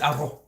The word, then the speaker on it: arroz: It's not arroz, it's arroz. Like an H sound.